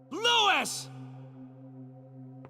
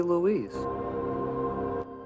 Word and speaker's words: Luis: Louis! Louis! Even in death, I can't pronounce your name correctly. It should be Luis. Because he's Spanish.